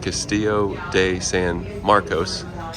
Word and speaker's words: Castillo de San Marcos: and cold perfect theming that looks like the Castillo de San Marcos hey I said it right uh but we